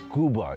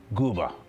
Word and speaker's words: Quba: We are actually in a place called Gooa. It's actually written with a Q. But here in Azojan, they pronounce the Q like a G. Gooa.